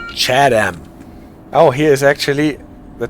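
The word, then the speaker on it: Chatham: So in case you want to confuse it with Chatam in Kent, this station name is pronounced Chadam.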